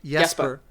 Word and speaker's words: Jesper: That's and Jesper Kid, whose name I pronounced wrong. What is it? Jesper.